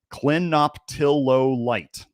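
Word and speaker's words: clinoptilolite: So if you guys want to know how to say this, Clenoptillo light, that's how you say it.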